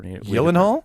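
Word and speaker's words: Gyllenhaal: the he's you know that's actually the proper yenal yenal is the proper way to pronounce his last name I think it's it's Swedish Swedish um so yeah so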